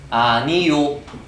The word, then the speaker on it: 아니오: 아니오가 발음이 될 때 아니요, 아니요 이렇게 발음이 되죠.